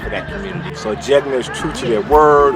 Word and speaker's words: Jegna: Now you said Jegna. Jegna, right?